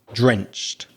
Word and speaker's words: drenched: And then the final ed d as we said before is just a t. So it becomes drenched.